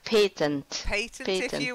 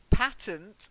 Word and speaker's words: patent: of copyright now so patent patent patent okay Peyton was the sound British patent if you want to sound American okay really yeah so